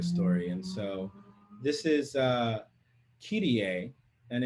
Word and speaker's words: Kyrie: poem in 2008, and I have always pronounced this word as Kyrie, but I recently learned that it's actually pronounced, or it can be pronounced alternatively as Kyrie.